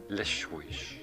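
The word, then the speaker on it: Leixões: I was pleased to have stopped in Lixões, pronounced Lixões, and meaning little rocks.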